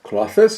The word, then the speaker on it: Klothys: a quick build of cloth this cloth this is how it's pronounced for selection - and